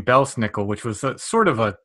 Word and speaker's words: Belsnickel: It's a mispronunciation of 2 German words. It's Pels Nicholas. It actually meant a furry St. Nicholas. And Pels Nicholas got sort of anglicized over the years to Pels Nicholas to Belsnickel.